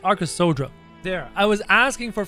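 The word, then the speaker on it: Arkasodara: sodra there it is so it's not the arc of sedara it's arca sodra there i was asking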